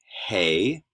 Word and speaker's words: hey: some rough correspondence um hey okay so that's like our h in many ways hey and notice that